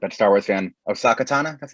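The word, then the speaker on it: Ahsoka Tano: Osaka Tana, that's how you pronounce it, Hmm.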